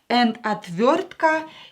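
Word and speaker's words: отвёртка: we have atv atv yo is always stressed in a word when oi is not stressed pronounce it as a atvortka is a screwdriver screwdriver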